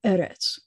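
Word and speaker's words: אֶרֶץ: other words you know anytime you have a word that has two es together the accent's always going to be on the first syllable so eretz almost everything else you do is going to have the accent on the last syllable and this is the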